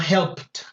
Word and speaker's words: helped: Como la P no vibra, entonces la ED la pronuncio como una T. Entonces una helped.